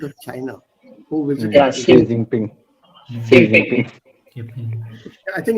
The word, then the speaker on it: Xi Jinping: On the television, this name was pronounced by the news reader as 11 pen.